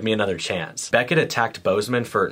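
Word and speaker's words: Boozman: a few weeks ago incumbent Republican senator John Bozeman is running for a third term also I mispronounced it in my Tick Tock but why is Bozeman spelled boozeman unlike most Republican Senators running for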